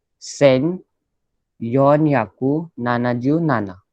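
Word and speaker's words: 千: ये 1000 को बोलते हैं सेन. ओके. 1000 को बोलते हैं सेन. सिर्फ मैं आपको ये इंट्रोड्यूस करके रखता हूँ. Okay. So इट is called Sen.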